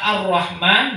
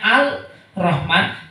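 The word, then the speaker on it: الرحمن: Nah, kalau orang demikian, kalau ternyata tidak membaca tasdid ya di dalam surat Al-Fatihah ini, baca Ar-Rahman, bacanya Al-Rahman, maka sholatnya tidak sah kalau dilakukan secara disengaja.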